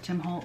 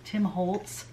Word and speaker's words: Tim Holtz: a wholesale account with tim holt because tim holtz i keep saying his name wrong uh because i use